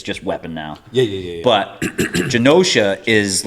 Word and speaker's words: Genosha: Genosha. Is it? Pardon. It's Genosha. It's not a hard G.